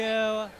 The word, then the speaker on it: Auli'i: and butcher your name can you please just pronounce it I I don't want to embarrass you owletoe okay like Bruce Lee and then you add